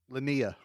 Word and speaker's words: Linnea: Yeah, how do you pronounce it? Linnea.